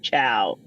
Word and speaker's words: Chiao: So I thought it was ironic that I'm performing a wedding next year in Italy, and Patty's last name is pronounced Chiao.